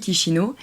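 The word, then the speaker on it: Chișinău: qui s'écrit Chisinau, mais qui se dit Chisinau.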